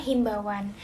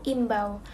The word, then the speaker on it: imbau: Selanjutnya, saya menemukan kata himbauan. Kata dasar yang benar menurut KBBI yaitu imbau, bukan himbau. Penambahan huruf H di awal kata merupakan pengaruh pelafalan daerah yang tidak sesuai dengan ejaan baku bahasa Indonesia.